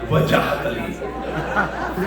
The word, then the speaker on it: Wajahat Ali: Wajahat Ali. 3 syllables.